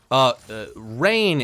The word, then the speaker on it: Raewyn: Raewyn? Rain is how I've been pronouncing it. Rain. I refuse to acknowledge the U.